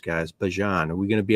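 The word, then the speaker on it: Bijan: I guess that's how everybody says it's supposed to be pronounced, guys. Bjon.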